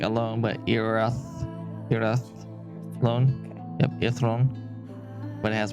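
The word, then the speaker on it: Irathlone: be taking dinner if um erathon and it's pronounced so it's i-r-a-t-h-l-o-n-e your throne like alone but Europe era loan yeah throne but it has more of our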